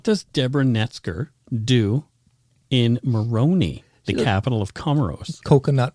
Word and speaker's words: Moroni: Where the heck is Moroni? Moroni. I'm glad you asked. Rhymes with baloney?